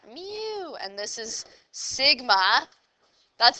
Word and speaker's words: mu: is called Sigma so this is mu that's how you actually say it like a cat mu and this is Sigma